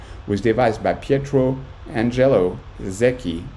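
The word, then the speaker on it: Secchi: devised by Petro Angelo Zeki pronounced SEI in the mid 1800s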